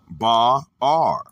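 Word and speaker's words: באר: The Hebrew word is ba'ar, pronounced ba'ar.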